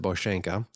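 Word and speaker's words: Bosanka: the boshenka overview so if you look at the map and type in bosenko it's b-o-s-a-n-k-a but they pronounce it boshenka you'll see where that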